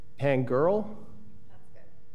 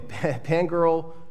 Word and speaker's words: Pangerl: And I apologize if I'm pronouncing the last name, because it's Pangerl. That works? Yes. Okay, Pangerl versus Peoria Unified School District.